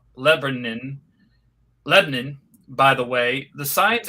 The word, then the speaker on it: Lebanon: When the Mustang pulls in the package store in Lebanon, Tennessee, locally pronounced Lebanon, by the way, the signs advertise liquor and beer.